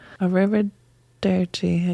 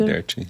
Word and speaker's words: arrivederci: Arrivederci. Yeah, Tyler can say it so good. I can't. Try it again. Arrivederci. Arrivederci. Arrivederci. Arrivederci. It's easier to say it when you roll your R's.